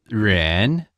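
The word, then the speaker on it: 人: useful word to know jen so it's ren does that sound right yeah that's perfect okay so she asked how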